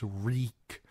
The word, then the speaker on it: Reek: My name is Reek. It rhymes with weak.